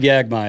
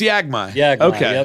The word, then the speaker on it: Yagi: not going to try Greg yagai is he is he it's just yagi okay yeah he I